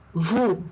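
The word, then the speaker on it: vous: the S is silent Vu once again the S is silent it means U now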